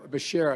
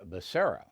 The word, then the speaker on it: Becerra: i nominated javier bakaria you know javier bashir excuse me it's javier becerra now anyone can mispronounce